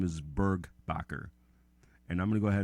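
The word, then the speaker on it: Burgbacher: BR you see II the last name is burg Bakker and I'm gonna go ahead and spell that that's B as in boy urg another be a CH er one more time Bakker BSN boy urg ba CH ER and in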